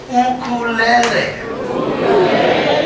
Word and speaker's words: ukulele: And everyone say ukulele. One more time. Now that is the correct pronunciation of this instrument.